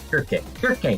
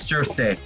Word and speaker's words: Kirke: You've been pronouncing her name as Circe. Yeah, no, I was too, but it's Kirke. It's Kirke, which is a stupid... Like, I think Circe sounds better, but it's actually Kirke.